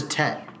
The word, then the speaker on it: Tet: I guess it was just called the Tet. Tet? Like T-E-T? T-E-T. The Tet. The Tet is an alien mothership Tet. with Earth. Neat. I added so many extra syllables. That's one syllable.